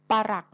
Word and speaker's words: ปรัก: ต้อง อ่าน ว่า ปรัก บ้าน หลัง นี้ เต็ม ไป ด้วย ทราบ ปะหลัก หัก พัง เรา จะ อ่าน ว่า ปะ หลัก นะ คะ เพราะ ฉะนั้น มา รู้